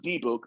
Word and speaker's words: dybbuk: we have the debit it's pronounced d book but whatever dimmick the dybbuk phenomenon specifically was about